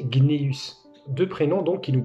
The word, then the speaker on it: Cneus: Et parfois, ce C pouvait être prononcé G, comme Caius se prononçait Gaius, ou Cneus se prononçait Gneus.